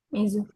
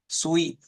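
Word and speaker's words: 水: Untuk kanji air bacanya apa? Mizu. Mizu. Atau bisa juga zui. Sui. Nah, untuk bilang hari Rabu soalnya Suyobi nanti. Oke.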